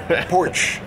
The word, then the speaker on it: Porsche: Porch.